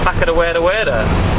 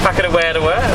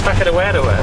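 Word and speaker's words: Whakarewarewa: After luging, we went to a place called Whakatawerta, which is Thank you very much. I've been practicing. Whakadawedawa, there we go. I think I pronounced it wrong the first time. It's Whakadawedawa, that's what it is.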